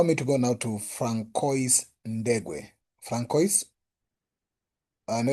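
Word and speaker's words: François: That name is Francis in French. It's Francois. That's French. Okay. That's a French version of Francis.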